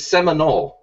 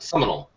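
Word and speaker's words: Sayre: hashtag under Damon Lane it is seol not seal you can't Oklahoma weather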